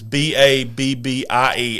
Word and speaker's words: Babbie: I think it's not Babe. It looks like Babe the way it's spelled because it's Babbie, Alabama.